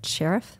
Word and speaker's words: Cherith: And I thought about the story of the ravens and the Brook of Cherith.